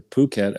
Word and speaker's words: Phuket: They pronounce it here Phuket, actually.